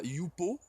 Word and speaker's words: jupo: Ensuite, on a le I de idéo, le J qui se prononce ye comme yogourt. Là, on a yupo.